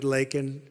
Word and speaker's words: Laken: And after months of prodding him, Biden couldn't pronounce her name. He said Lincoln Riley, and Lincoln Riley is the football coach, or the coach. And this was in Congress, couldn't even get the name right.